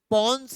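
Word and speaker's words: Pons: पी ओ एन एस पनस है इसे पोनस कहते हैं है ना भाई साहब पी ओ एन एस पंस बोलते हैं इसे कोई भी गलत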